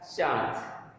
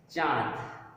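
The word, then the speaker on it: चाँद: हम लोग बोल देते हैं चांद, लेकिन एक्चुअल में उसका उच्चारण जो है चांद नहीं होता है। क्या होता है? चांद, चांद। यानी हम मुंह से उच्चारण किए और नाक की सहायता लिए, चांद।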